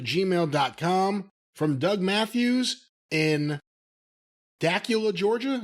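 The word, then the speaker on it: Dacula: from doug matthews in dakula georgia is that how you pronounce that dakula takula spelt like dracula without the r so i thought that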